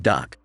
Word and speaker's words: DUKW: The 6-wheel drive amphibious vehicle, pronounced duck, like the one that quacks, was used by the